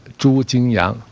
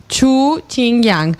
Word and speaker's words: Xu Jingyang: Pronúnciale usted para ver si aprendemos nosotros a cómo se debe pronunciar en perfecto mandarín. Xu Jingyang. Xu Jingyang.